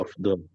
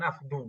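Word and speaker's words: أفضل: Afdol. Ya, Oh, afdol. Di sini dibacanya afdol, bukan afdu. Afdol.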